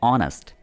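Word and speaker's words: honest: जैसे आप अगर यहाँ पर देखें तो एच है लेकिन इसकी जो साउंड है वो आती है ऑनेस्ट, ठीक है, तो आ वाली इसकी प्रोनाउंसिएशन आ जाती है, ठीक है, तो इससे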